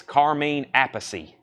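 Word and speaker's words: Carmine Appice: had a long discussion the correct pronunciation of this name is Carmine apacy no debate and then it's Vinnie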